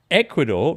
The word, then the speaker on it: Ecuador: We've just finished watching Ecuador, rhymes with barn door, as we mentioned yesterday, and failing to score against this incredible keeper, Tom.